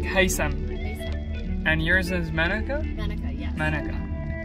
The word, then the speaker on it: Haytham: The spelling is Haytham. Tham. But how you pronounce it is like the TH is like an S sound. So it's like Haytham.